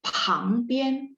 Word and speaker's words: 旁边: Saya minta P bacanya PH. Dia benar-benar kalau kita taruh kertas tuh, kertasnya bisa gerak karena ada angin ya. 便宜, 便宜. Terus 旁边 PH.